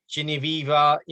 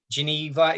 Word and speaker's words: Genevieve: I think my audience deserve to know, and I think it's going to make a great interview to get Geneva. Is that how you pronounce it? Genevieve.